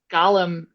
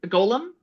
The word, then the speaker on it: golem: Oh, and it is about a woman who makes a gallum. Golem. Gollum. How do you say that? Golem. Gollum is from Lord of the Rings. Golem is the creature.